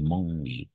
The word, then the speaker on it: mangent: Alors, la seule remarque, attention, ENT à la fin, ENT à la fin, on ne le prononce pas, on n'entend pas.